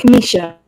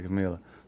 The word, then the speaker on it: Kamisha: How do you say your name again? Kamisha. Kamisha. Goodness gracious. I was gonna say Camila. Yes. Kamisha.